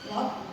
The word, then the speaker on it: Lot: Lot bukan pot, Lot. Kalau cara baca Alkitab, ada gitu Lot.